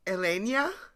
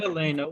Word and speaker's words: Helena: How are we pronouncing Elenia? Or is it Helena? Well, I think Helena would be fine. Helena? Helena, yes.